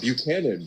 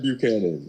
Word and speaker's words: Buchanan: can you tell us how to pronounce your last name? Buchanan. Buchanan is how you pronounce it.